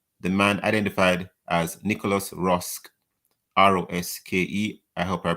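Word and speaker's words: Roske: on to read the man identified as nicolas rosk r-o-s-k-e i helped her pronounce his surname correctly from los angeles was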